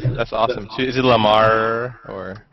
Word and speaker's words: Lamarr: So is it Lamarr or? No, it's Lamarr. I mean, do you, like in Arabic we pronounce the R's like we stretch it. No, it's just regular. That sounds too erotic. Lamarr.